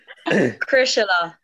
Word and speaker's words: Crosserlough: Yeah, as long as I've forgotten how to pronounce it. what did you tell me? Crosserlough. Crosserlough.